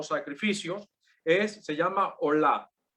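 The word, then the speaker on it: עֹלָה: El primer tipo de ofrenda o sacrificios se llama olá, no de hola de saludo, no, sin la H, olá con acento en la A.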